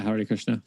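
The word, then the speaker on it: Hare Krishna: Christian but they found out how do I pronounce it is it Hari Krishna yeah Hari Krishna there was actually one dude that found a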